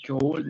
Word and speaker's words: could: should, miren, ahí dice could, la C, la O, la U y la D, pero únicamente pronunciamos la U, could, ¿vale? La U, solamente pronunciamos la U y la D. Decimos could. Should y would, no es would, ¿no es cierto?